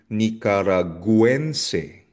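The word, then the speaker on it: Nicaragüense: Nicaraguense, Nicaraguense. So kung mapapansin niyo, la letra U o yung letter U may diaresis. So it means babanggitin mo or bibigkasin mo yung letter U. Nicaraguense, Nicaraguan.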